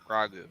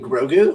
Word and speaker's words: Grogu: Morgan three my son's like gragu you mean grogu Rogue whatever your own